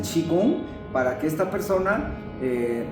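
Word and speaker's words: Qigong: Chi se escribe qui, Qi y y Gong se lee en español, pero el nombre chino es chigong, para que esta persona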